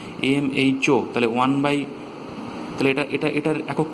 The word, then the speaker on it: mho: এটাকে আমরা উচ্চারণ করার সময় উল্টো বলি, MHO।